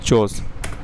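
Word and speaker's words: Chos: मैं सही प्रोनाउंसिएशन कर रहा हूं। चोस।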